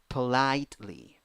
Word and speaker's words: politely: Next, 8 letters, 7 sounds, 3 syllables. The second syllable is the stressed syllable. First syllable, p. Second syllable, I with a hat, I. Third syllable, e with a hat, e. Politely, politely.